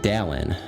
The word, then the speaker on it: Dalton: When Dalton says his own name, he doesn't enunciate the T. He says Dallin, no T. When he says they say his name, always emphasizes the T. It's like Dalton.